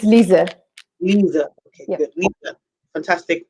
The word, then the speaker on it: Lise: I called you Lise, but I don't think that's how you pronounce it. It's It's fine, but it's Lise. Lisa.